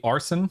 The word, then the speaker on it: Arsyn: Uh, real quick, I just want to make sure I'm pronouncing everyone's name correctly. Arson.